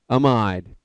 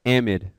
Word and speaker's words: amide: in your right mind, how would you pronounce that? Amide. It turns out we call this we actually pronounce it amide. And I don't know why. If you're British, then you can call it an amide, which makes more sense.